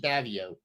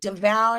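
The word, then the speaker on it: Davao: oh Deval I'm sorry I thought it was davio okay devour is how you say it there you go Mar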